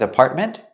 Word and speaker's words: apartment: Again, with apartment, you have the T in the middle, is a stop T, apartment. And at the end, you can pronounce the T and say ment, apartment, or make it a stop T too and say apartment. Both are correct.